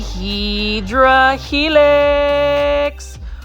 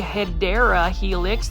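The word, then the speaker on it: Hedera helix: You can see right over here, this is a Hedra Helix. Um, say it with me, plant foldies. Heedra helix. This one is the Hideera Helix, the correct way to say it.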